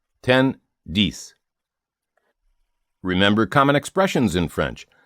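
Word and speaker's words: dix: 10 de. Remember common expressions in French. Voila. There it is. There they are. Moshe garson. My dear boy.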